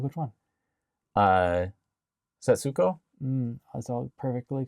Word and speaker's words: Setsuko: Setsuko? That's all perfectly correct. Okay. But they never pronounce the su.